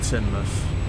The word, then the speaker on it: Teignmouth: or I would have said Teignmouth again, but it's actually Teignmouth. I'll say I'll try and find who it was. Like there. Let's see. Daniel Shakespeare, thanks for that, man. You said Teignmouth is pronounced Teignmouth, so my bad.